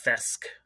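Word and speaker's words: kthesque: under uh the handle fesc okay spelled with a K the K is silent but it's uh k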